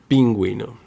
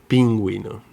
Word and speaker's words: pingüino: But if this letter U has the umlaut dots on top, we're going to pronounce the letter U, like we, as in vergüenza, or pingüino, pingüino.